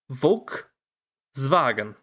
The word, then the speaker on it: Volkswagen: Volkswagen.